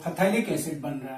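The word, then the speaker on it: phthalic: क्यों, क्योंकि इस रिएक्शन में आप जो फथैलिक एसिड बन रहा है ये क्या है, फथैलिक एसिड, इसको थैलिक एसिड भी कहते हैं, पीएच साइलेंट रहता है।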